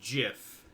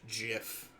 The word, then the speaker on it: GIF: It was like, no, it's actually supposed to be pronounced GIF, like the peanut butter. Gift.